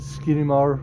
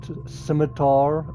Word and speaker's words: Scimitar: Oh, by the way, I know the first time I got this, I said uh I said Skimar, but scimitar, that's apparently the right way to say it.